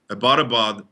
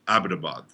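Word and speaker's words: Abbottabad: of the leaked osama dossiers by the way ibadabad is pronounced abitabad for link asia this is vijaya hathas khan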